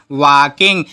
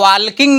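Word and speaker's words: walking: क्या हो जाएगा वाकिंग इसको इसको वाल्किंग नहीं पढ़िएगा। एक अलग से वीडियो डाला होगा साइलेंट वर्ड का कि बहुत से ऐसे वर्ड होते हैं जहां पे हमें कुछ ऐसे वर्ड होते हैं जिसको कररेक्टर होते हैं जिसको नहीं पढ़ना होता है। जैसे नाइफ हो गया तो नाइफ में के साइलेंट होता है। इस जगह एल साइलेंट है। हमें वालकिंग नहीं पढ़ना है। इसको वाकिंग पढ़ना है।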